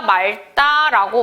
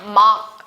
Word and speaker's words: 맑다: 그런데 날씨가 맑다 같은 경우에 우리가 발음을 날씨가 맑다라고 많이 하지만 문법적으로 리을 기억은 닭을 생각해서 날씨가 막 이렇게 하는 게 맞습니다.